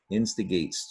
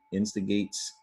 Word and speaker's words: instigates: instigates, just add an S to the root, instigates, or instigate, and you've got instigates, 3 syllables.